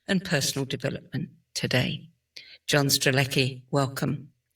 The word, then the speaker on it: Strelecky: Before we start, tell me, am I pronouncing your last name correctly? Yeah, Strleki.